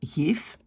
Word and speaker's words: geef: Et alors, par exemple, un V à la fin, ça n'existe pas. Hein? Donc, si on a le mot geven, ben, on ne peut jamais avoir geven, jamais. Donc, c'est toujours un F, geef. On n'a pas de V à la fin.